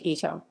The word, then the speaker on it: AI: additional meanings in that it is pronounced like the english word eye and is short for